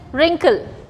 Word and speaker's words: wrinkle: Next is wrinkle. क्या word है? Wrinkle. So again W is getting silent here.